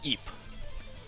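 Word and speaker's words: Ypres: Okay, apparently that's pronounced Eep. It's not even remotely like that, but apparently it's pronounced Eep.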